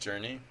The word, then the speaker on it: JRNE: The dev name for one of my other projects is JRNE, pronounced Journey.